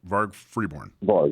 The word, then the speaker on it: Varg Freeborn: are you good good now did I I pronounced your name correctly right varg Freeborn yes that's that's correct yep excellent excellent welcome